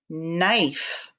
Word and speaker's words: knife: nit so the kn so it's knife and it also has a silent e k n i s e silent e makes the eye say its name knife so we've got knit